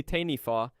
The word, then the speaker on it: taniwha: The word Taniwha, pronounced roughly tanifa, appears in the oral traditions of every major iwi across Aotearoa, New Zealand.